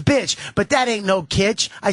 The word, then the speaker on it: kitsch: but that ain't no kitsch. I said kitsch. You don't know what it means? Look it up. Wikipedia that shit, bitch, because that's why I say kitsch. It rhymes with other things, like bitch.